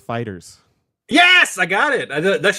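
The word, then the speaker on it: FighterZ: looked it up you are correct it is pronounced Fighters yes I got it that's just what I've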